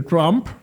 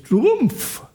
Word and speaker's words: Trump: Sí, a mí me molesta que se que todo el mundo dice Trump, aunque es Trumpf, porque él él tiene,